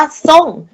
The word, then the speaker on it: ทรง: นั่น เอง นะ คะ อย่าง ท ทหาร ร เรือ เนี่ย เรา ก็ จะ ออก เสียง เป็น ตัว ซ โซ่ นั่น เอง นะ คะ ใน เพลง นี้ ก็ จะ มี คำ ว่า ทรง คำ ว่า ส่ง เรา ก็ จะ เป็น ออก เสียง เป็น ตัว ซอโอะ งอ ทรง นั่น เอง นะ คะ เรา ไม่ ออก เป็น ตรง นั่น เอง นะ จริง